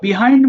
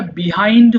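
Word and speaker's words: behind: উচ্চারণটা বিহাইন্ড হয় আবার বাহাইন্ড হয়, বোথ আর কারেক্ট। হ্যাঁ, যেটা বলতে ইচ্ছা করে বলতে পারো, বিহাইন্ড এবং বাহাইন্ড।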